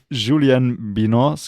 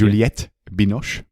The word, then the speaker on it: Juliette Binoche: And there she plays the personal assistant of Julianne Binoche's character. Is that how you pronounce her name? I have no idea. Juliette Binoche.